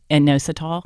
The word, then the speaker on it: inositol: I've read about a supplement called, and I can't pronounce it, inositol. Inositol.